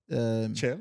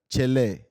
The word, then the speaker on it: Chelle: What we know, I think everybody will pronounce it the way they Eric can. Chelle. But I think the name is Eric Chelle. Sekou Chelle.